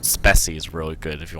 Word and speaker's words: Speccy: that it pops up And a program called Speci is really good if you want to see what hardware is working, or you can use just the Windows Hardware Manager. But the Speci gives a much simpler list.